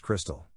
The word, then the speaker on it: Krxstxl: daughter krxst XL confused the name is pronounced Crystal I already don't like